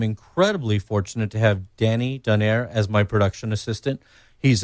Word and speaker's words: Donayre: That's Danny Donaire, and it's spelled Donayre.